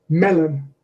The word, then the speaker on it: melon: Stress on the first syllable, not on the second. So the first word there is melon, melon.